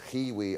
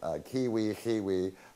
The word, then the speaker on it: Chiwi al-Balkhi: Persia whose name was Chiwi al-Balkhi. Don't worry about pronouncing it. Just say, it rhymes with kiwi, and that makes it easy, right? All right, then you got it. Chiwi, all right, Chiwi al-Balkhi, and he lived